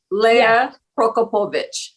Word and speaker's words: Lea Prokopowicz: is here today Leia okay how do you pronounce it Leia prokopovich there you go oh you're so good at